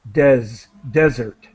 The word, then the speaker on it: desert: And you're pronouncing this word with a Z sound, desert, desert. okay, desert.